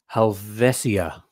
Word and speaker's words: Helvetia: So the name of this watch, Helvetia, right? That's how you pronounce it.